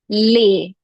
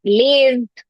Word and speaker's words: les: Yes, it's lay. Lay. Please make sure you're not pronouncing it as l or lee or lays. Not at all lays as well, okay? It's just lay. You can remember it as layover. Layover. So lay.